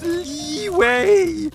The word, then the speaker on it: Liyue: It's pronounced Liyue!